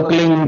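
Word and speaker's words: क्लीं: की मात्रा और बिंदी, उसका उच्चारण होगा क्लीन गा की ध्वनि निकलेगी पीछे।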